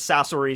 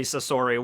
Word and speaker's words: Sasori: okay and which who i also might have been mispronouncing as sasuri sasori whatever okay and so i'm thinking